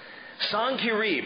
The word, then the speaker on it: Sennacherib: After these acts of faithfulness, Sennacherib, and that's how you say his name. I know you've heard probably Sennacherib or Sennacherib or something, I don't know, but Sennacherib is his name, king of Assyria.